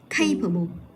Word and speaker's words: capable: Thì cái đuôi able này là nó xuất phát từ cái âm tiết số 2 là capable. Thì mình sẽ nhấn vào âm tiết số 1 là capable.